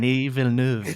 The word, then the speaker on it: Denis Villeneuve: Denis Villeneuve, right? Denis Villeneuve.